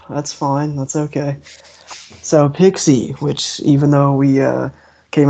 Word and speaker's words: PXE: but the Echo EP, is it so PXE? How do you pronounce it? Oh, I thought it was Pixie. Pixie. It is. Yeah. It's Pixie Music is how he says it.